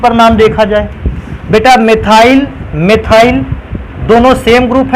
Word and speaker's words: मिथाइल: इस ग्रुप को कहते थे मिथाइल, एम से स्पेलिंग स्टार्ट होती है, और इस ग्रुप को कहते थे एथाइल, ई से स्पेलिंग स्टार्ट होती है।